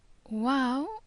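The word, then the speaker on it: Waw: Wow, we've already had a look at, since it's one of these vowel sounds. It can be pronounced as the W in the beginning of the word worry. But, as we said before,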